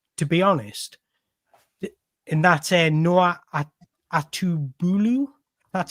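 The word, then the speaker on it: Noah Atubolu: much about him to be honest and that's Noah atubu that's how you pronounce it he plays for fryberg in Germany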